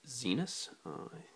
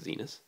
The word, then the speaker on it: Zenus: It's made by a company named Zenus. It's written back here. You can read that. It's spelled like the planet Venus, except the Z instead of a V. And I believe that's how you pronounce it.